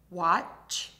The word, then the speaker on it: watch: This is a combination of two sounds, t and sh. Watch. Let's try it. Wash, wash, wash, watch, watch, watch.